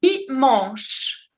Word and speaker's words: dimanche: Et l'ultimo, vous dites dimanche. Il ne se prononce pas la E finale. Dimanche. Et la CH, en français, sempre se prononce ch. Ch. Dimanche.